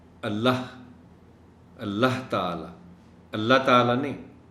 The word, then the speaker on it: اللہ: کہ کم از کم لفظ اللہ کا جو تلفظ ہے اس کو تو صحیح رکھنا چاہیے. اللہ غلط تلفظ ہے. اللہ کا آخری حرف ہے اے، اور بولتے ہوئے اس کو سنا جانا چاہیے.